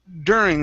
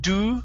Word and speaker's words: during: is okay the word during instead of do during it's dur during during all right right good okay